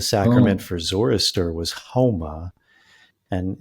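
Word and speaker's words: haoma: etymologically, they don't pronounce the S, they pronounce it like an H. And the sacrament Oh. for Zoroaster was homa.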